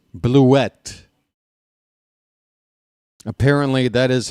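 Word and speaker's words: Blewett: It's Scott Bluette. That's right, folks. I'm going to start enunciating that second syllable with a little bit of emphasis. Bluette. Apparently, that is how it's truly pronounced. Blew it sounds a little more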